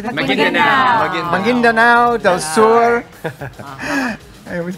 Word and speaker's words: Maguindanao: Maguindanao.